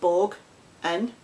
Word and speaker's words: boggin: Pronounced bog in, meaning filthy, disgusting.